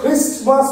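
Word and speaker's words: Christmas: আই এস টি এম এস এটাকে আমরা কেউ ক্রিসমাস বলবো না ক্রিসমাস বলবো না কি বলবো ক্রিসমাস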